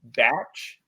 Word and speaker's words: Bache: off a pass from the announcer was calling him batch uh this guy's last name is spelled like Bache almost but uh it goes